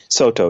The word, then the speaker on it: Soto: Now, the school of Zen that you subscribe to, is it pronounced Soto Zen? Soto, yeah.